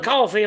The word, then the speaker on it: Coffey: I'm Coffey, like the drink, only not spelled the same.